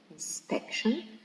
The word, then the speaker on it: inspection: see the correction so the first word inspection it is stressed in the second syllable inspection okay because uh it finishes with the suffix sh and all the words are finished in the suffix Shin or sh with c or Jan with s or i okay are stressed